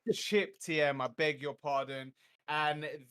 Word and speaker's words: CipTM: siptm it says um it's pronounced chip but he has a spell sip right chip tm i beg your pardon